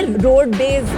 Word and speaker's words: RodBez: है वो और ये रोड बेज पे रोड बेज चूंकि पापा रोड रोडवेज का बस चलाते थे तो बिहार में क्या रोडवेज करके प्रोनाउंस करते थे तो उसको हम रोडवेज कर दिए ताकि लोग थोड़ा सा